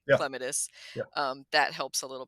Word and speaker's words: clematis: But then since I learned that the correct botanical pronunciation is clematis, so the Hmm. accent is on the first syllable.